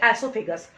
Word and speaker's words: oesophagus: नाम आपको थोड़ा सा पढ़ना पड़ेगा, एसोफेगस। ओ is silent, spelling देखो आप, OESOPHAGUS, दिखाई दे रहा सभी बच्चों को।